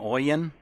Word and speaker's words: Oien: Dave, do you pronounce that name Oien?